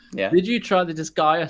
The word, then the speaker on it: Disgaea: But go on, because I've already forgot how you pronounce it. So Disgaea.